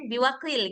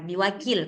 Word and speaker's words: بوكيل: kof saya bacanya? Kenapa, Mbak Yanen? Biwakil gitu ya?